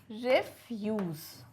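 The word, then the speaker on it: refuse: तो रिफ्यूज़ का जो होता है ना, वो एक तरीके से होता है रिफ्यूज़. ठीक है, रिफ्यूज़ यानी रि की मात्रा आती है, एक तरीके से देखा जाए तो रि कहेंगे रिफ्यूज़.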